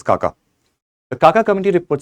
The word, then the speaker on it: Xaxa: the Kaka committee basically though it is written as xaxa it is pronounced as Kaka the Kaka committee report